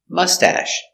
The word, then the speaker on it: mustache: machine very good pronunciation mustache mustache put the accent on the first syllable mustache soft sound mustache he has a nice